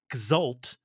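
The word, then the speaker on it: X'ul: the void void meets exal which is spelled X apostrophe UL so like cult but with an X and an apostrophe so void meets gal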